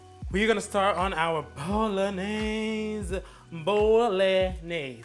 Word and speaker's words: Bolognese: We're gonna start on our bolognese. Bolognese. Say it with me. Bolognese. It's not bolognese, or however it looks like it's pronounced. It's bolognese.